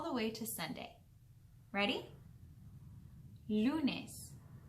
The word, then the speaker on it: lunes: And in Spanish, the word for Monday is lunes. Repeat after me. Lunes. Very good. And lunes is spelled L-U-N-E-S.